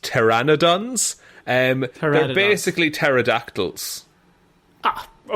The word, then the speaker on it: pteranodons: What are puradons? It's I think it's actually pronounced pterrannodons.